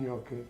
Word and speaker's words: gnocchi: it's not really pasta if you have a problem pronouncing Yi kind of ignore the G it's a nasal Andi you want more